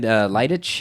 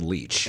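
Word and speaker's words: Leitch: is directed by uh how do you pronounce his last name is it David liic I think it's David leech leech yeah uh now this guy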